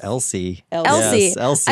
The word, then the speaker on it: Elsie: I think it's Elsie. Elsie. Yes, Elsie. I wanted to call her Elise, Elsie, Elsa the whole time.